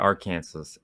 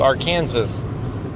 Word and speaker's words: Arkansas: That's how I pronounce it, Arkansas.